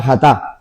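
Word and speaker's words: חטא: como lo tiene grabado, la palabra jatá, acento en la a, eh, es fallar el blanco, ¿vale?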